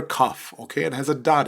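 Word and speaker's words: כף: or a dot inside the letter kaff is equivalent to the english letter k and sound okay and it is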